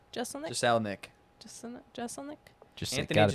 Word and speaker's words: Jeselnik: Okay, pronounce his name for real. I don't know. Astley. Jesus. Astley. Oh. Anthony Jeselnik. Jeselnik.